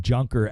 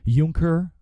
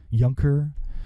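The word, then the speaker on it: Juncker: right it's not junker it's it's junker but Alex Jones likes to call him junker as an insult it's kind of you know it's kind of funny because that's the way his name is spelled junker but it's actually what is it yunker or something yunker all right anyways he's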